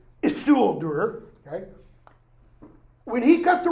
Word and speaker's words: Isildur: all comments, who's going to say, you're not pronouncing the name right. Isildur, okay?